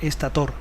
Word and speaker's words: estator: La RAE defiende aparentemente con poco éxito la pronunciación estator.